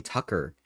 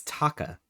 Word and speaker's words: Taka: I'm like, why is his name Tucker? No, his name is Taka.